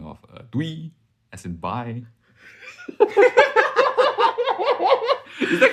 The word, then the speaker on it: doei: Well, as the Dutch way saying of doei, as in bye.